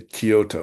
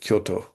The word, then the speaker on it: Kyoto: Anyway, rather like they say Kyoto instead of Kyoto, which is the Japanese way of saying it.